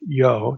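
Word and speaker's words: יו: The writer or editor creates the impression that the divine name short form yo here yw. And without getting into historical Semitic linguistics as to why that was pronounced yo just again I'll say take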